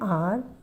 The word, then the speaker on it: hour: Because H is silent. Just now I told you. So we waited for an hour for the school bus, particular school bus.